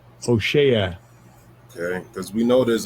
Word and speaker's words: Hoshea: Let me get the pronunciation of that properly. Strong's H 1954. Hoshea. Hoshea.